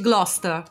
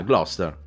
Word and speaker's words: Gloucester: In realtà credo che si pronunci Gloucester. Ah, Gloucester.